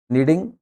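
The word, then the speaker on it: knead: नहीं गूद रही होगी नीडिंग फलोर ठीक आटे को नीड बोलते हैं के साइलेंट रहता है इसके अंदर ठीक है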